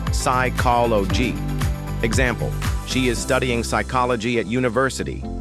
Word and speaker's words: psychology: Second from science is the word psychology. This is the study of the mind. We say psychology.